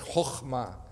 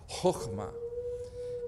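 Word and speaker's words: חכמה: And the word for wisdom is a Hebrew word which is difficult to pronounce in English, chokhmah, chokhmah. And what this word means is a lot like the English word skill.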